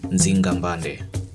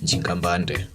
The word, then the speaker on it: Nzinga Mbande: Nzinga Mbanda. Others call her Njinga Mbanda. Potato, Porero, different pronunciations, same personality and person.